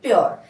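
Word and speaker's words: pure: है पूरे पढ़ते थे पूरे नहीं पढ़ना है इसको प परर क्या पढ़ना है प्योर कैसे बनाया मैंने आरई आया है इसलिए इस यू को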